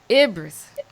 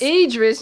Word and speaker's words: Idris: I am Ibris. Idris, how do you pronounce his name? Idris? Idris, yes.